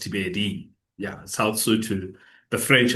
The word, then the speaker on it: Thibeli: I know it's it's a bit of like we were discussing it's Tibeli it's spelled Tibeli but it's pronounced Tibedi.